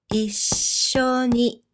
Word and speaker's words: 一緒に: Can you pronounce this word, by the way? This is 一緒に一緒に which means together in Japanese.